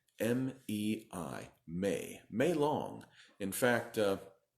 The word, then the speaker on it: Mei: name, 1 syllable for its genus name, 1 syllable for its species name. So it's a great animal. It is called MEI. M-E-I, MEI, MEI long.